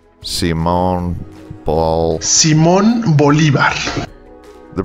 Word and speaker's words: Simón Bolívar: Simón Bolívar. Simón Bol... Simón Bolívar. The pronunciation of the city name has been Americanized, and I can't pronounce it with an authentic-sounding Spanish accent.